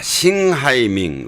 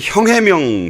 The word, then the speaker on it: 싱하이밍: 자, 싱하이밍 네. 뭐 한국 발음으로는 형해명 씨인데 네.